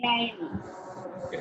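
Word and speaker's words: climb: இது எப்படி இது பண்ணுவீங்க கிளைம் இந்த பி வந்து உச்சரிக்க கூடாது கிளைம்னு சொல்லக்கூடாது கிளைம் கிளைம்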